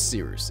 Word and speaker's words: Cyrus: My name is Cyrus. It's spelled like Cyrus, pronounced like Sea Rooster. Just take out the ter.